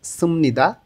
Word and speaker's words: 습니다: এখানে দুইটা রূপ আছে, যেমন একটা হচ্ছে সুমনিদা, বিয়োগ ভাচ্ছিমের পরে যখন নিয়ন আসে তখন এই বিয়োগটা ম উচ্চারণ করতে হয়, এখানে উচ্চারণ হবে সুমনিদা।